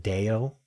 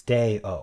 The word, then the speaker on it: Day-O: Is it Deo? How do you spell that? Deo song. It's Day-O. Oh, it's just Day-O. Deo.